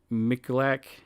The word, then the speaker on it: Miculek: uh if you want to know how to spell that it it's Jerry g-e-r-r-y and his last name michelak uh m-i-c-u-l-e-k or you can look up uh